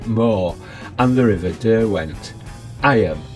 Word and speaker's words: Eyam: between the edge of Iam Moor and the River Derwent. Iam, pronounced Eem, rather than I am, is over there to our left somewhere.